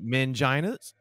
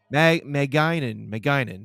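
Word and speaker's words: magainin: Called manginas. No, hold on. It's pronounced mangine. Maginin. That's what it is. Yeah. Not mangina. Yeah. Not mangina, but no. Maginin. Yes. Maginin, yeah.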